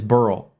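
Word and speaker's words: Beryl: b r y l it is burl that's how they say it I mean those that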